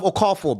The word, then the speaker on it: Okafor: I'd rather I'd rather have Okafor, bro. Yeah? Yeah, but why would you rather have First of all, pronounce his name correct.